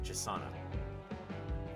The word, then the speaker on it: Jasana: Now, okay, Jasana is how you pronounce it.